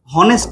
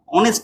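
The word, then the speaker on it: honest: মানে লিখতাম মানে মনে করতাম অনেস্ট বলতাম নাকি হনেস্ট বলতাম অবশ্যই হনেস্ট বলতাম না অনেস্ট বলতাম তাইলে এইচ এর উচ্চারণ কি হ এর মতো থাকছে থাকছে না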